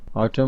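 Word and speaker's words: autumn: ल silent letter है ऑटम ऑटम में एन साइलेंट लेटर है केडी केडी में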